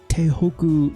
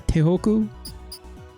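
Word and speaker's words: Tohoku: And then while I was here at this Tehoku University, did I pronounce that right? Yeah, Tehoku, I found this uh school statistics.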